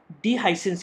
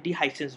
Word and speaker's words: dehiscence: इसका जो रोल होता है वो होता है डिहाइसेंस के टाइम पे।